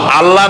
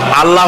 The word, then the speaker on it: আল্লাহ: আল্লাহ নয়। কিন্তু আল্লাহ হচ্ছে অশুদ্ধ।